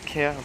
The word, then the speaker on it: Cahir: aux deux tiers mais ça se prononce genre caire dans un genre et